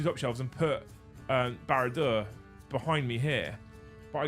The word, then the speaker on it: Barad-dûr: Barad-dûr.